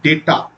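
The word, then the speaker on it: data: telecom and ডাটা analysis actually উচ্চারণটা কিন্তু ডেটা অবশ্যই উচ্চারণটা হচ্ছে ডেটা তাহলে এটাকে কি করে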